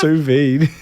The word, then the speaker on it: sous vide: How's it pronounced? Sous vide.